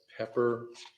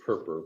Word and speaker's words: Perper: florida supreme court called pepper let me see if i've got the pronunciation i think it's p e p e r versus adele e d e l l and i'm sorry it's perper p-e-r-p-e-r 44 southern second 78 florida 1949.